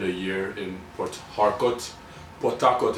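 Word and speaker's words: Port Harcourt: Potakot is how we would pronounce it. But if I'm trying to be you know pronounce it well and enunciate then it would be portark right lived in I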